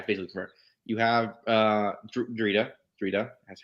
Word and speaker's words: Drita: You have Drita. That's how you pronounce her name. Drita, the Imperial Inspector.